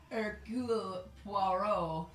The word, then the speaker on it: Hercule Poirot: Hercule Poirot. I like that you have to make your voice funny. Yeah. Christmas. You're getting better. Anyway, or as I like to call it, Hercule Poirot Christmas.